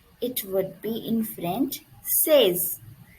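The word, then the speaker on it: seize: is 16 16 it would be in french says says says says okay please focus on the pronunciation 16 says okay then our next word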